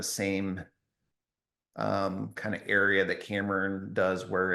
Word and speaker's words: Cameron: I got growing up, camera was a big one a lot. camera. Yeah, and Gotcha. Cameroon. My mom actually still calls me Cameroon sometimes. It's kind of like Oh.